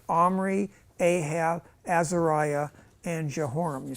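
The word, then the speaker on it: Omri: his mother's name was athalia the granddaughter of Armory king of Israel by the way they say omry because of Ahab was of the House of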